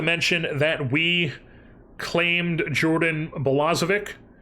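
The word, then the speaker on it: Balazovic: Oh, and I also forgot to mention that we claimed Jordan Bolazik, I think it's Bolazic, is how you say his name.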